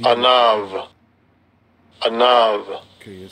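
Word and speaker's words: עָנָו: Strong's H6035, Anav, Anav, second entry, they pronounce that with that V, Anav, Anav.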